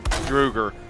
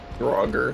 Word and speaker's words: Draugr: Druger. Draugr.